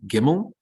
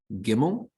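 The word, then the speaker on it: גימל: All right, the third letter is Gimel. G as in girl, Gimel. All right, this is how it's written in the block and the script.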